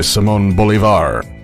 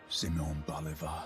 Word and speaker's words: Simón Bolívar: Namely, these civs are the Maya, led by Lady Six Sky, and Gran Colombia, led by Simon Bolivar. Or, as narrator Sean Bean pronounces his name, Simon Bolivar.